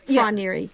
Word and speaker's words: Froneri: So this Froneri, am I saying it right? Froneri. So Froneri with an F-R. Froneri.